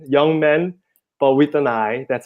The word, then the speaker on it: YoungMin: is yeah young man just like how it's pronounced young man young man but with an eye that's how I always